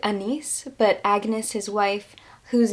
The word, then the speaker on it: Agnes: I think you pronounce it Anise, but Agnes, his wife, who's known as Anne Hathaway, and his children.